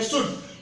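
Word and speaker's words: should: इसे पढ़ते हैं फॉ, इसे पढ़ते हैं मार्केट, इसे पढ़ते हैं शुड। इसे शुड तो पूरी दुनिया पढ़ रही है, लेकिन पूछा जाए कि एल कहां गया तो कहेंगे साइलेंट, लेकिन पूछा जाए कि एल क्यों साइलेंट तो उसका कोई आंसर नहीं।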